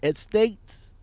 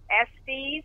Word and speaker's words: Estes: I really appreciate the time that you're giving me on how you pronounce it again? Estates? I'm sorry? How you pronounce the company name again? Estes, E-S-T-E-S, Express Line.